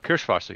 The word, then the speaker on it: Kirschwasser: Did I pronounce either of those words correctly? I don't think I did. Kirschwasser, yes.